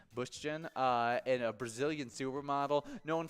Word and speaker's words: Bündchen: Bündchen, and a Brazilian supermodel known for her work with Victoria's Secret, as well as being the famous wife to Tom Brady.